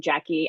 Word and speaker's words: Jacque: Um, and just as a point of clarification, um, I pronounced my name Jackie. I know it looks just like Jacques, um, minus the S, but just so you know.